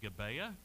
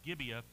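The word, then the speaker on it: Gibeah: many ites we will see the town of gibea some people will pronounce it gabea but um I the the folks that I I listen to most closely will refer to it as gibia it is a town very close to jabus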